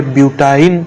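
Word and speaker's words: butyne: तो इसको हम क्या प्रोनाउंस करेंगे? इथाइन, इसको बोलेंगे प्रोपाइन, इसको बोलेंगे ब्यूटाइन, इसको बोलेंगे पेंटाइन और इसको बोलेंगे हेक्साइन।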